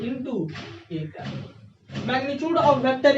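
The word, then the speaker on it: â: और इसको बोलेंगे कैसे, प्रोनाउंस कैसे करेंगे, तो बाबू पढ़ेंगे ए कैप। क्या पढ़ेंगे? बहुत सुंदर, ए कैप पढ़ेंगे ना।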